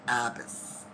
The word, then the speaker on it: Abbass: all the time, but I don't pronounce it Abbass. I pronounce it Abbass. Abbass. Okay. And Abbasses have been in Canada for 100 years, and that's where that's the way we pronounce it.